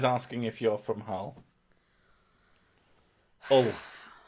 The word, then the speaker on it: Hull: Hull, as it's pronounced. Yeah, it's Hull. Hull. There are no H's in Northern.